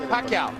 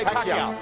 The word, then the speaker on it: Pacquiao: Ultimo, ang mga announcer ay hindi pa mabigkas ng tama ang dakilang pangalan niya. Pacquiao. Say Pacquiao.